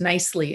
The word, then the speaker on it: Kniseley: as assistant principal that my last name is um is pronounced nicely instead of me meanly so that was really close